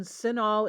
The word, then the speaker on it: CINAHL: to go to databases click the databases button sinol is spelled c i n AHL so it starts